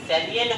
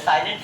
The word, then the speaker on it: salient: सैलिएंट features of our constitution, सैलिएंट features of our constitution, SALIENT, सैलिएंट बोल रहे, साइलेंट feature से नहीं बोल रहे हैं, ठीक है ना।